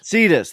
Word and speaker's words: Cetus: How do you pronounce it? Cetus? Cetus.